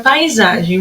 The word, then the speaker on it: paisagem: Agora a paisagem. Vamos ver qual que é a sílaba tônica. Vou chamar a palavrinha. Paisagem. A sílaba que mais durou tempo aí, ó, foi o za, de paisagem.